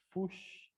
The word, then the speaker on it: Fuchs: Método de Fuchs ou Fuch, né? Vai depender aí da pronúncia. Eu conheço como Fuchs.